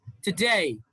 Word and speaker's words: today: not forget it's forget reply today it's not today it's today today against remind degree degree